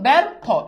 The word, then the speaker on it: ব্যর্থ: তাহলে খেয়াল করে দেখো, এই যে যখন ব্যর্থ লিখতেছো তখন ব্যর্থ, এই যে দেখো একটা আকার চলে আসছে।